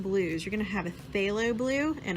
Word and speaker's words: phthalo: a phthalo blue and I know that that has a P at the beginning of it but it's actually pronounced halo not per se I'm not flip a low or puff a low it's just a low